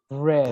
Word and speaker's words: read: read. Right. Very good. Read. Similar color red. Exactly the same pronunciation. Red the color red, or read the past of the verb read.